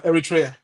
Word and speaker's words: Eritrea: Obviously, Congo are banned due to government interference, and Eritrea. Did I pronounce that correctly or no? Yeah, Eritrea. Thank you.